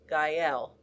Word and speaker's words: Gael: Type in GUY space L and click the green button to save. To check for accuracy, dictate Gael.